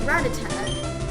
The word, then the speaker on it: Rattata: uh yeah it's not retited actually because it's like red red it's rattata and you put more emphasis for the two t's are because like there's